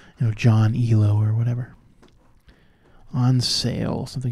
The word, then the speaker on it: Elo: A lot of people think that it's like ELO, that it must stand for something, but it actually is ELO. It's pronounced like that because it was named after some guy.